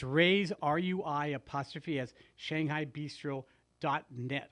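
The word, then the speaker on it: Rui's: sponsor of ours is rey's um shanghai bistro in redlands and rey's is spelled r-u-i apostrophe yes shanghai bistro it's on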